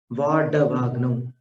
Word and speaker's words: वाडवाग्नौ: अंभो निधौ क्षुभित भीषण नक्र चक्र पाठीन पीठ भय दोलवण वाड्डवाग्नौ। वाड वाड नहीं बोलना, ड के नीचे बिंदी वाला उच्चारण नहीं है, ड डर वाला है, डमरू वाला है।